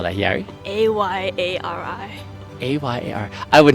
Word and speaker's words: Ayari: A-Y-A-R. I would not have guessed that. So, say it again. Ayari. Almost sounds like there's a Y in the beginning too, doesn't it? Yes, it's yeah. Ayari.